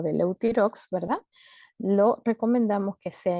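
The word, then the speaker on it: Euthyrox: Eutirox se llama en otras partes fuera de Venezuela en Venezuela era también TH, se escribe EUTH YROX, ¿no? Eutirox, pero es la misma.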